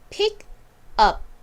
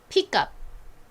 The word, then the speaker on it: pick up: 이것을 읽을 때에는 천천히 또박또박 읽으면 pick up, pick up 요렇게 읽지만 빠르게 읽을 때에는 여기가 연결이 돼요. pick에서 가장 끝발음인 K와 그리고 이 U의 소리가 합쳐지게 되면서 끝 소리가 up이 아니라 빠르게 발음할 때에는 cup처럼 발음이 납니다.